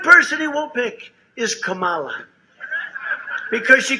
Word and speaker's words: Kamala: tried to interrupt him no my name was kamala like comma i remember that like